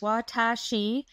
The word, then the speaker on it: Watashi: This site is Watashi Life pronounced Watashi which means I or me in Japanese.